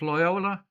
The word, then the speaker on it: Loyola: Is it pronounced Loyola?